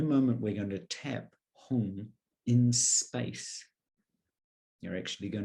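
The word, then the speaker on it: hung: of every single tap begin to chant home sounds like h-u-n-g now the syllable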